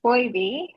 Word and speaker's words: Phoibe: Well, it's pronounced Phoibe.